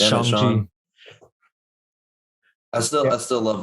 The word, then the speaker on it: Shang-Chi: I finally watched Shang-Chi, whatever you say his name is. Sean. It doesn't matter. It really doesn't matter. It's Shang-Chi.